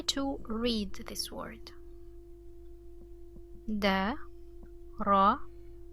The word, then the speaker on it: ر: This letter we haven't learned about yet, but this is pronounced like the Spanish ra. Okay, the Spanish r, ra, and it also has fatha, so ra.